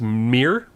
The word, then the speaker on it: Mir: If somebody's half elf, half human, that's Mir. A Mir, yes. Mir. Okay, good. It's just the same as come here, Mir.